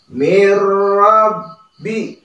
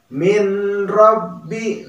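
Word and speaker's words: مِن رَّبِّ: Jadi dibacanya mirrabbi. Nah, mirrabbi, jangan malah dibaca min rabbi. Nah, itu salah ya. Apalagi ming didengungkan ya, itu salah. Tetapi yang tepat mirrabbi ya.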